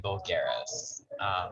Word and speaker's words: vulgaris: So it's Artemisia and vulgaris.